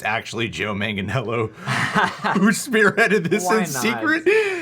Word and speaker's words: Manganiello: I still don't know how to pronounce it. Manganiello? That's usually how I hear it. I'm sure there's a pronunciation in Italian that's like way more complicated. It sounds complicated, man.